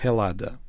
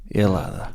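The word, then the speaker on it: Ελλάδα: Os gregos chamam a seu próprio país algo como Helada. Helada, que já foi Elas. Eh, aquele primeiro som pronunciado, mas pronto, é é lada, não tem nada a ver com Gresso.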